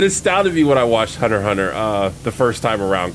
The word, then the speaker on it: Hunter x Hunter: suffering paragon foreign yep I used to say Hunter x Hunter all the time and then people were like you don't pronounce the X's of those enemies it's just Thunder Hunter Hunter Hunter by the way is the I I